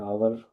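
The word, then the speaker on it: hour: साथ जैसे कि है आवर एच ओ यू आर आवर। यहां पर फिर हम देखते हैं कि जो एच है हमारे साथ वह एक कांसोनेंट काउंट हो रहा है। लेकिन यह साइलेंट है।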